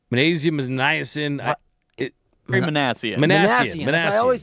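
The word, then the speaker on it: Minasian: Manassian? Magnesium is niacin. Manassian.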